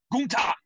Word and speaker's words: Gunther: they called him Gunther, and he goes, "It's pronounced Gunther."